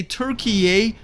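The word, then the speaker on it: Türkiye: electric first things first you probably heard me say turkey a not turkey twice now and that is how we supposed to pronounce the name of that country starting this year so you're welcome now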